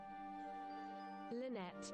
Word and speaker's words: Lynette: Like the bird, you know, but it's spelled differently. I'll make sure I'm pronouncing that right, because it's a character. Lynette. Yeah, it's Lynette, okay.